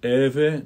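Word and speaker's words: Evae: I've heard the H pronounced in the heve, but I usually keep it silent. Mutans eve nomen.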